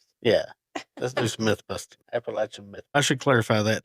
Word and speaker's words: Appalachia: podcast screen here and it said Appalachin and that's what I kept saying, but it's Appalachia.